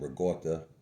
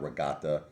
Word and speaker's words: ricotta: Now I'm having my Fusilli pasta with the carmine sauce and ricotta. That's how you say it, by the way. It's not regatta, it's ricotta.